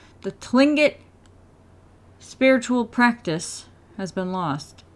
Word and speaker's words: Tlingit: our knowledge of the old ways of the tingling it I pronounced it wrong the Tlingit spiritual practice has been lost below our two